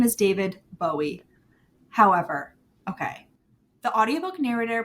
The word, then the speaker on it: Bowie: up david bowie pronouncing his name and he pronounces it bowie and in fact there's an interview he's british